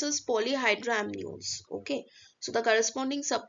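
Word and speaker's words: polyhydramnios: we have poly hydrino uh basically it's uh pronounced as polyhydramnion okay so the corresponding sub quote will be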